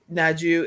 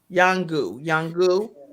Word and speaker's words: Nyangu: Naju is going to actually, Yagu is going to be at NYANGU Amos at That's Yahoo, yeah. Yangu, Yes.